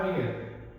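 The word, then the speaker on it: wir: इसके बाद आता है हमारा वियर। जैसे इंग्लिश के अंदर एक वर्ड बोलते हैं टू वियर। मतलब कुछ पहनने के लिए बिलकुल सेम कन्वेशन होती है इसकी वियर।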